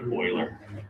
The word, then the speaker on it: Euler: right and it looks like euler it's actually pronounced like euler yeah okay we're actually approaching this called euler's